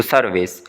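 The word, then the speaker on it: service: फिर यहाँ पे देख लें जी सर्विस, ये जो है हमारे पास ये ई आर की आवाज़ निकालेगा, ई आर आई आर यू आर, तो सर्विस।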